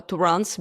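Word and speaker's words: Turin: But how these Tourins or Tourans, because you know the French, they pronounce it like Touran.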